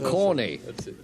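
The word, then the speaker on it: cawny: what's the next one corny Rachel Billington ah yes if if someone called you corny even though it's spelled c-a-w-n-y and not c-o-r-n-y you still ought to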